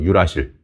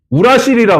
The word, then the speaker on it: 유라실: 얘 이름을 이렇게 불러. 유라실이라고 불러. 유라실. 예전에는 우라실이라 그랬어. 우라실. 어, 근데 이것도 발음 잘못하면 우라질이랑 좀 저기할 것 같아서 우유 유라실로 이름을 좀 바꿨어.